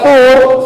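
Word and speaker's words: ثور: Selarongnya delik Diponegoro, gua Thur, yang bacanya Thur, fa wawu ro, Thur atau Faur.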